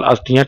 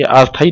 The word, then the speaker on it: अस्थियां: ये प्रवाल अस्थियां टीले के रूप में निक्षेपित हो जाते हैं। ये अस्थायी नहीं लिखा है, अस्थियां है, ये गलत प्रोनाउंसिएशन हो रहा।